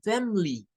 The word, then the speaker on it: family: Y es que en algunos dialectos del inglés le quitan el sonido del schwa. Entonces, algunas personas hacen de cuenta y caso como que solo tiene dos sílabas, omitiendo la sílaba de en medio. Y solo dicen family, my family, mi familia, my family, solo así.